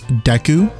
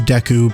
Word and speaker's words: Deku: the Kingdom, we have Princess Zelda once again referring to him as Deku.